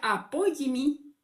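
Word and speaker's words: ἀπόλλυμι: Aquí esta palabra es apoyimi o se pronuncia apoyimi en griego y significa igual que abad.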